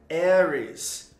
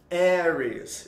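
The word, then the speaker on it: Aries: de áries em inglês a pronúncia correta é eres eres nossa tô na inglaterra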